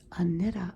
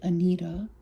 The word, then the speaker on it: Anitta: I want to say Anita because of my Midwestern roots, but I think it's Anitta.